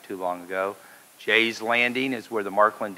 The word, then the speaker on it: Gex: census in Carrollton so the French Canadians say but here we just say Jay just like for sales and Jen you know we know how to pronounce the French language apparently so you can call me Jay I've been called a